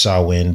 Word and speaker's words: Samhain: And it's pronounced Samhain, but it's actually spelled Samhain, if you were to want to look this up.